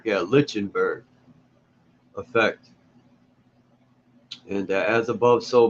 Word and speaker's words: Lichtenberg: effect I think that's how you say it lichenberg yeah Lichtenberg effect and As Above So Below um the